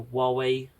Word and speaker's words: Huawei: And then I had a Huawei, that's the right pronunciation, hotspot, just the actual really small, just a hotspot.